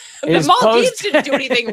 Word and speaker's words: Maldives: Muhammad Wahed Hassan, a former president of the Mald Dives, resigned his No, mispronouncing everything I told you. The Maldives didn't do anything wrong.